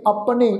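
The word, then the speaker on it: ਅਪੁਨੇ: इस तों पहला अपने, ऐड़ा पप्पे दे पैर विच औंकड़ लगी हुई है, इस औंकड़ दा भी पाठ उच्चारण करना। इहनूं अपने इस ढंग नाल उच्चारण नहीं करना, उच्चारण करांगे अपने।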